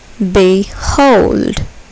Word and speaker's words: behold: Behold. Behold. Here, the second syllable is accented. Behold.